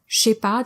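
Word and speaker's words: chépa: often hear a simple that's exactly how the French say it when they speak fast shipa just flows better you might even see it spelled that way in casual text messages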